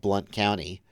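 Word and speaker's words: Blount County: in in uh Tennessee we have Blunt County and it is spelled b u n t so technically he has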